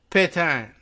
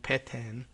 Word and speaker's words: Pétain: Like Pétain, and it's, how did I see pronounce his name? I wish I knew that from history class. I can't remember. P-E-T-A-I-N, but with the accent on the E. Pétain.